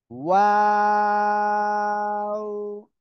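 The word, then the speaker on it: و: এই যে দুই ঠোঁট গোল করিয়া, দুই ঠোঁট গোল করিয়া এ অক্ষরটা উচ্চারণ হবে, ঠিক আছে? আমার দিকে তাকান সবাই। ওয়াও, সবাই একসাথে বলেন তো।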